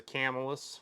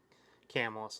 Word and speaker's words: Camillus: This is a Camillus or a Camillus. People get on me about saying it wrong, but I say Camillus a lot of times.